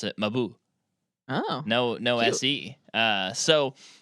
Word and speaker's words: Mabuse: And even I heard Fritz Lang in an interview pronounce it Mabuse.